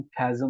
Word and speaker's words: chasm: अच्छा जी, हमारे पास एक चाचा हैं, चाचा आजम जो हैं, ये चा आजम जो है ये चा आजम नहीं है बेसिकली। इसकी प्रोनाउंसिएशन खैजम होती है, खैजम, CHASM।